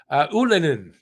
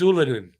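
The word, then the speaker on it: Ylönen: Ullinen, and that's the right way to say it. By the way, that's from his mouth. Oh, so not Ullinen? It's Ullinen. Yeah, he's asked everybody to start saying it that way too.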